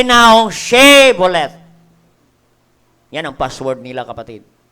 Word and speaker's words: Shibboleth: Letter H lang ang nawala, kapatid. Na-disgrasya po ang Ephraimites. Amen. Sabi ng Biblia. Oo. Ang sabi ng mga Gileadites, sige, dadaan kayo if you can pronounce correctly the word Shibboleth.